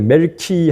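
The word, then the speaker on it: מלכי: 근데 멜키 하면은이 말라크의 1인칭 소유격이에요. 그 나의 왕이란 뜻입니다. 멜키 할 때 멜기 세대 할 때 멜기가 우리는 멜기라고 읽지만 히브리어로 보면은 멜키에서 이거는 나의 왕이란 뜻이고이 세덱은 재덱이는의 일이어난 말이에요.의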